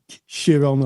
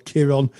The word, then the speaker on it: Chiron: Yes, it's a very powerful story, and you know, I think that there's different ways of pronouncing Chiron or Chiron. I've heard it said Chiron, sometimes it said Chiron, but of course Chiron